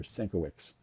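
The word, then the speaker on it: Sienkiewicz: Um, now some people would pronounce that Coovich, but his father anglicized it when they came to America. And there Senowicks, so it doesn't sound as Polish as it it is because maybe there was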